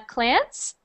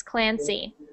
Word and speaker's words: Clancy: when you were reading i only heard uh clance so just make sure you pronounce those y's clancy i make many mistakes